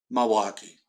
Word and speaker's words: Milwaukee: people from up here go Milwaukee, like a ma, like a not mill.